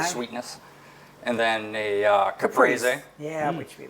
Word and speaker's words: caprese: And then a caprese Yeah, which we like. with balsamic Which he said it right, glaze. caprese, and I just said caprice, which is wrong. No, Caprese, no. caprese.